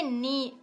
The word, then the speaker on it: knee: इस स्पेलिंग अगर आप देखो तो इट इज KNEE, बट जब आप इसको प्रोनाउंस कर रहे हो आप पढ़ोगे नी का साउंड ही कहीं नहीं आ रहा है। दैट इज के साइलेंट लेटर हियर, तो इसको साइलेंट लेटर कहते हैं।